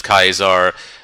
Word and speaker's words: Caesar: be curious is yeah I pronounce I pronounce when Caesar as kais are Centurion as Ken Tyrion and and Charon as Caron because if I remember correctly he that was how that was actually how the Greeks pronounced it the cnch sounds they pronounce them like K's but yeah I am